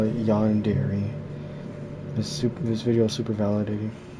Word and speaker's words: yandere: of two Japanese words, yandere meaning to be sick, and dere dere, which is defined as strongly and deep Yandere?